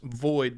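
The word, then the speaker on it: VOXIIID: It's pronounced void, but it's spelled voxid.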